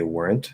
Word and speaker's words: weren't: We can say like you weren't fired, weren't, and we'll add this extra vowel.